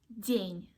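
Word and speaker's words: день: min and others so just imagine that you pronounce the word near and this knit sound is there at the end of the word Dania Dania okay the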